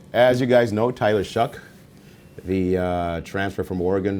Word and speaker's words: Shough: it i don't know it's phonetic shuck s-h-o-u-g-h that wow okay that's different anyway as you guys know tyler shuck the uh transfer from